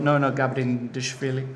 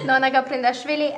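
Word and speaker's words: Nona Gaprindashvili: It's chess country because you've got Nona Gabrindashvili. I can never pronounce her name. Very good. Very good pronunciation. Do it for me. Nona Gabrindashvili and Maya Ciburdan.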